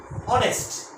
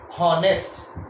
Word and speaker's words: honest: H, मगर हम लोग इसको यूज नहीं करते हैं हॉनेस्ट, हम क्या यूज करते हैं? ऑनेस्ट, ऑनेस्ट। H इसका प्रोनाउंसिएशन ओ जैसा हो रहा है, H साइलेंट है और इसका प्रोनाउंसिएशन ओ जैसा हो रहा है, इसीलिए हमने इसके पहले एन आर्टिकल को यूज किए।